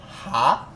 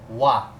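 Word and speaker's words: は: entanto, entretanto, não obstante, quando ele é utilizado como partícula, ele deixa de ser Ha e se torna Wa. Por quê? Porque é muito mais fácil de pronunciar Watashi wa do que Watashi ha.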